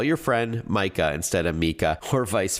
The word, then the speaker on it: Micah: So, if Siri says something wrong, like pronouncing your friend Micah's name as Mika instead of Micah, then select the person in your contacts and tap Edit in the top right corner.